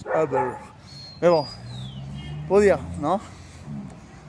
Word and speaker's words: Uber: Enfin, ça se prononce pas Uber, ça se prononce Uber.